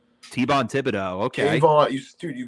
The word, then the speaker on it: Thibodeaux: on how do you say his name t-bon thibodeaux okay you just dude you got you said cave on right you're illegal you said t-bond really jermaine johnson ii going to the atlanta